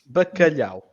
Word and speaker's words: bacalhau: B with a soft A, K, C with a soft A as well, Liao, which is a very difficult syllable to pronounce.